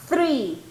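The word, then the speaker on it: three: diciendo árbol 33 verdad usted debe pronunciar el número 3 fruit break como que los dientes de arriba verdad pasan rozando su lengua tri tri tri tri tri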